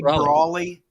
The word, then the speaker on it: Brawley: At least say Brawley. I know you can spell it wrong, but at least say it right.